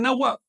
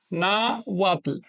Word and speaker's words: náhuatl: Hay una diferencia sutil, pero importante de pronunciación. Así que recuerden, esta W no es vocálica, es consonántica, es una consonante. Mientras que esta forma de escribir, pues es vocálica porque la H no pronuncia.